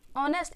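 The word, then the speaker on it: honest: noun भी आता है ऑनेस्ट इसलिए है क्योंकि इसकी साउंड देखा जाता है एच ए भी क्या रहता है इसमें साइलेंट रहता है इसमें बोलता कुछ भी नहीं है जिस तरह इसमें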